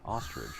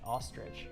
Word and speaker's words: ostrich: Ostrich. You're saying it like r i d g e. It's i h. Ostrich.